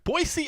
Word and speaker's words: Boise: to you from Boise see I've learned to say it right Boise Idaho side of UFC